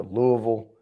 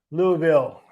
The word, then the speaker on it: Louisville: And typically people are going to Louisville or they're going to. Yeah, they didn't have it in Louisville, right? No. Yeah. Oh, Cindy, did you hear him say Louisville? Louisville.